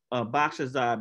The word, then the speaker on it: Boxerside: He gave me the cheat code on how to say his name. It's Boxerside, because he told me if I remember back massage, I can say Boxerside.